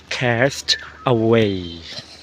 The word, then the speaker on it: Cast Away: ถึง แล้ว นะ คะ อัน นี้ อ่าน ว่า แคส Away ไม่ ใช่ แสว นะ ฮะ ไม่ ใช่ แคส สว นะ แคส Cast Away นี่ ย ไม่ ไป